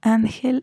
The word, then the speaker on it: ángel: mal como pueden ver ángel es grave porque la sílaba tónica es a mí entonces él sería la última and sería la penúltima y termina en una consonante que no es ni enemy ese entonces es una palabra grave ustedes vamos a continuar